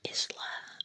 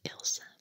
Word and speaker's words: Elsa: it as an intro I hear many people pronouncing my name as Elsie or Isla or Elsa or Elsie but the correct way to pronounce it is Elsa Okay so let's see